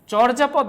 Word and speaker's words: চর্যাপদ: পাচ্ছি চর্যাপদ আমরা বলেছি শুরুতে যখন অকার থাকবে পরবর্তীতে রেফ থাকবে উচ্চারণটা ওকার হয়ে যাবে এইজন্য আমরা চর্যাপদ না বলে চর্যাপদ বলবো চর্যাপদ বলবো ঠিক আছে উচ্চারণের সময় চর্যাপদ বলবো